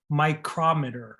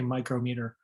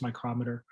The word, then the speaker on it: micrometer: This is pronounced micrometer, or I guess in some cases you can say micrometer, but the American way is micrometer.